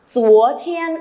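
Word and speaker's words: 昨天: Chúa thiên, âm chờ, không bật hơi nhé.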